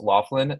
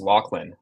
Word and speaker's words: Laughlin: So it looks like it should be pronounced Laughlin, but for reasons unknown and lost to history, it's pronounced Laughlin.